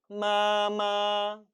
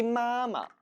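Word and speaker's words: 妈妈: 아빠 아빠 와 동일합니다 원래는 따라 읽어 보세요 마마 마마 라고 해야 맞는 발음이 겠죠 하지만 엄마 엄마 엄마 한번 부르다 자칫 숨 넘어갈 수 있다는 겁니다 그래서 발음을 편하게 하기 위해서 뒷부분은 역시 경성 처리를 해 준 거죠 마마 마마 라고 말입니다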